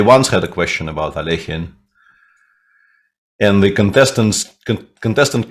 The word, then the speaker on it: Alekhine: Didn't we all agree that Alekhine was a putzer, says Snitor?